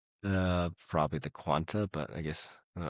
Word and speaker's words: Quanta: Um, what's it called? The Quanta. Yeah, there's no quant. You've been saying quantum just like how with the element six you've been saying.